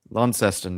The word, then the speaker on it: Launceston: I can never pronounce the name of this place. Launceston. Launceston, yes, there we go.